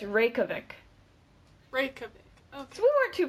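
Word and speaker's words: Reykjavík: off no listen one more time yeah it's Reykjavik break so we weren't too far off no we were brief Chubbuck Reykjavik okay so I picked Reykjavik Iceland I picked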